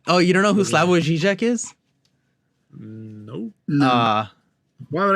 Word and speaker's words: Slavoj Žižek: Dude, how can I pronounce his Zoom in name? it. It's Slavoj Žižek.